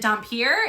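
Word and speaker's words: dhampir: you how do you is it dumer is that how you say it yep okay cuz I just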